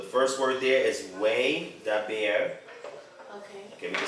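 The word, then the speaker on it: וַיְדַבֵּר: Hebrew for you to make it easier to pronunciate, right? So the first word there is way daber.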